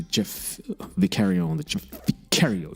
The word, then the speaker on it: Vicario: And you're listening to Jeff Vicario on the Jeff Vicario Show, or Vicario. The Brits pronounce it slightly differently. Vicario. It's actually sounds fancier and more upper class.